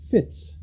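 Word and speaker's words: fytte: These eight sections are called fits, pronounced fit, but spelled fy t.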